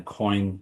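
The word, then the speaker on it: quoin: Um, yeah, the subtitle is unhurried elevated selling using the coin principle. Coin is spelled qu u o i n.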